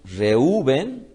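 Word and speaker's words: Reuven: amará mi marido entonces Rubén cuya pronunciación es reúven nace a partir de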